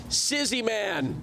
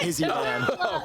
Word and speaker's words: Izzy Man: We've got It's Sizzy Man. That's right. And then we've got Carter. I I butchered your name, didn't I? Yeah. Yeah. It's Izzy, man. It's Yeah, you butchered that.